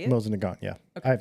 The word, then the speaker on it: Mosin Nagant: Mosin Nagant, yeah.